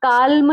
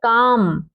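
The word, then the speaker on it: calm: आगे देखते हैं, ये देखिए एम से पहले अगर एल हो तो क्या होता है, साइलेंट होता है। जैसे सी ए एल एम, इसको हम काल्म नहीं पढ़ेंगे, काल्म नहीं है, ये है काम।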